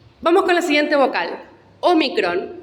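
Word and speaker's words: ómicron: imprenta minúscula y mayúscula omicron es una o breve así como epsilon es breve se pronuncia e o micron se produce simplemente o vamos a la próxima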